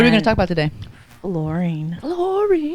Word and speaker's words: fluorine: It's not flowering. It's not. That's not how you'd say flowery.